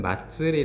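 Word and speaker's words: まつり: 학습을 해 보겟습니다 자 축제라는 일본어는 마츠리 라고 발음을 하고요 한국어로는 마스 리라고 되는데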